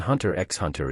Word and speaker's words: Hunter x Hunter: it being too long the x in hunter x hunter is silent the next anime i